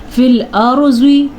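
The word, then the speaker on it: فِي الْأَرْضِ: سے پہلے زبر ہے۔ فی الارض، را پر پڑھنا ہے کیونکہ را ساکن ہے اور را سے پہلے زبر ہے۔ زواد کو پر پڑھنا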